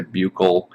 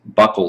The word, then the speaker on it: buccal: buccal cavity oral cavity some people say bucal or buccal i've heard different pronunciations buckle seems to be the one that is uh considered to be the the most common this is your oral